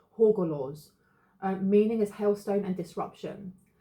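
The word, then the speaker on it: Hagalaz: It says here, pronunciation is Horgorlaws. Okay, so I said that wrong. Horgorlaws.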